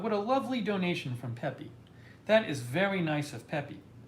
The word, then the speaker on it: Pepe: this back pay pay it's not pay pay pay pepe pepe pepe hold on